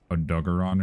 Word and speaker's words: Odogaron: of different ways too, because I think in English it's pronounced Odegarin, because in Sunbreak there's a Lunagarin, and that's how you say it, and it's kind of based off that. So I'm pretty sure it's Odegarin. But then I think the Japanese way of pronouncing it is like Odogaron or something like that,